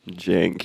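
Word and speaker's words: Cenk: than Hassan sink wigger well it's spelled Cen K Jen it's yeah chank Jen you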